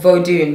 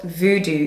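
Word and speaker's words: Vodoun: I'm just going to read you the definition of vodun, because the original word is not voodoo, it's vodun.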